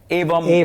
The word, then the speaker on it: Evam: And then when you guys started off Evam, am I pronouncing it right? Evam is technically the Sanskrit word.